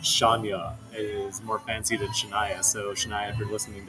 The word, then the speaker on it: Shania: she introduced me to Shania Twain but it was my first time ever hearing about Shia Twain so you want to know how I pronounced her name how's that sha it I mean it does